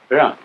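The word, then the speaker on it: jen: Although when we romanize this word in English, we spell it J-E-N. It's pronounced Jean. Sort of like rolling an R, or rather saying R but not rolling it.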